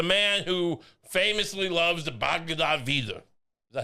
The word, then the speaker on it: Bhagavad Gita: The man who famously loves the Bhagavad Gita. Is that how you say it? The Bhagavad Gita?